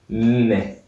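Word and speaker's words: nne: 4, Ne. You see that N is quite strange because there's two of them.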